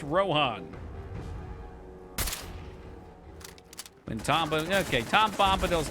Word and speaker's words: Rohan: wait R Rim we've talked about this it's pronounced Rohan when Tom okay Tom bombadil's not in that